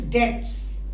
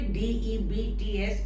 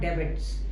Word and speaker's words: debts: This word is debts. There is a B, but the B is silent. Okay, D-E-B-T-S is debts. Okay, not debits.